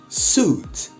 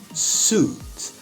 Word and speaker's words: suit: em inglês nós temos palavras com ui Porém tem o som apenas de U veja alguns exemplos Suit terno Suit I love this Suit